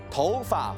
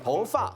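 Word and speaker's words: 头发: 头发发明，答错。念一念。起了怎么念？头发发明，头发发明，答对。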